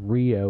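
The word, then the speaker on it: Reo: We went to this town near Evansville called Rio, which is spelled R-E-O, and that's because it's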